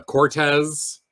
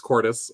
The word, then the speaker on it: Cordes: Spanish conquist story uh but no it's Cordis um you have been